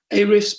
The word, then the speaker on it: Ahrefs: Ahrefs, by the way, is spelled Ahrefs.